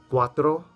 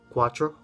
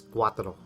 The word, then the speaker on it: cuatro: to say Quadro so I used to pronounce quatro like a gringo quatro so Quatro Quatro means